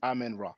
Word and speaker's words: Imen Ra: So we have so it's Imen. I Imen, mean it's the E sound. I Imen Imen Ra. or Imen. Imen Ra. But in English, once again, we pronounce it Amen Ra.